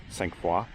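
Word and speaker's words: Sainte-Foy: in a region called, I would call it Saint-Foy, but I think here they kind of pronounce it Cinq-Foy.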